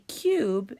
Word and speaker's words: cube: but it does not it starts with the C and it has the long you because it has a silent e so let's look at the definition a cube is a read it